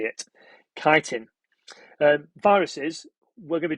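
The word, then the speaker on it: chitin: to know that it's made of kiteen chhi t n be careful how you say it kiteen um viruses we're going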